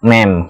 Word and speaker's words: ma'am: Ini bacanya ma'am. Kalau ibu kita M-O-M, bacanya mom ya. Ini ma'am.